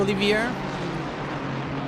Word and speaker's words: Olivier: Thank you, Olivier. It's not Oliver.